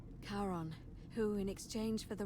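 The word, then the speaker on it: Charon: is a little off the name you heard wasn't karen it was c-h-a-r-o-n as in the ferryman of the dead karon who in exchange for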